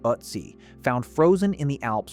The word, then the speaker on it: Ötzi: VO instruction, pronounced exactly as Ötzi. Not Titsy, but Ötzi.